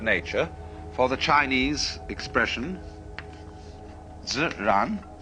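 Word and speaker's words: 自然: We use the word nature for the Chinese expression ziran. They pronounce J like a sort of unrolled R.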